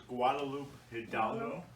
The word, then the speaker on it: Guadalupe Hidalgo: or comment about that treaty how do you pronounce that treaty and how does that name come up the treaty is guadalupe hidalgo and it's it's from mexico it's a region